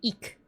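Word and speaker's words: Ik': Black is eek. It's ik apostrophe. Or you could spell it e k I guess.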